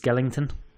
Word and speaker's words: Skellington: emaciated skeleton inside a suit I believe it's pronounced Skellington Skellington sorry he's an emaciated Skellington yes and